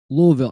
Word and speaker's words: Louisville: So you got to be able to pronounce it right. Louisville.